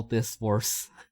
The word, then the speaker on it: Disc Wars: War as in war. The battle between people to the death, and then Yeah. as in that circular thing.